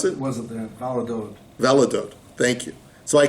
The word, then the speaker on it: Valladolid: How do you pronounce it? Was it there? Valladolid.